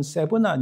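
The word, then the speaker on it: Shebna: 자, 셈날은 사실 히브리어 발음은 세브나, 영어 발음도 세브나 이렇게 되어 있어요.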